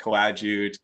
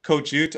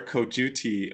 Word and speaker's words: Coadjute: met and I really had no idea how to actually pronounce cojut. So, Martin has so graciously um informed me that I can't stop slurring and saying like coagut kajut or whatever. I should be saying kojut or cojuti.